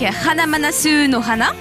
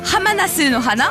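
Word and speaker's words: ハマナスの花: Il y aura également Pico avec Sakurane, Galileo Galilei avec Hanamanasu no Hana. Non, Hamanasu no Hana, voilà, je l'ai mal prononcé.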